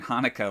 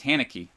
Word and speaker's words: Haneke: I was corrected because I was saying Hanukkah like it's pronouncing it like it was a Jewish holiday, but it's Haneke, I guess.